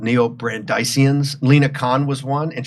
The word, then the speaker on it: neo-Brandeisian: I'm called a neo-Brandeisian, I guess it's pronounced, or Brandeisian after Louis Brandeis.